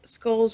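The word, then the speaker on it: skål: amen know skull pronounce skull skull but I think but with an O and like an umat or something that's uh some sort of Norse way of saying cheers skull like that squirrel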